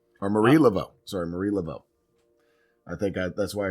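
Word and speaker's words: Marie Laveau: Uh Mary Lavo or Marie Lavo, sorry, Marie Lavo.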